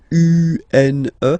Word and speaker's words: une: Then the feminine article is here, and it's easier because if you have this U-N-E, then you pronounce it une.